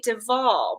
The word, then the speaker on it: de Waal: follow her on Instagram that's the big duvall but it's spelled with a W a al not wall it's very fancy leave